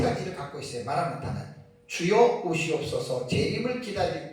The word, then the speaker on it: 마라나타: 아멘 주 예수 오시옵소서가 고린도전서 16장 22절에 마란아타. 그래서 우리는 마란아타 그러잖아요. 마란아타라는데 뭐 라고도 하고 발음하는 데는 약간 좀 차이가 있을 수 있습니다. 똑같은 말이라는 말이에요. 우리 주여 오시옵소서. 그래서 여기에서 이제 마라나타는 신약 성경에 고린도전서 여기만 한 번 딱 나와요.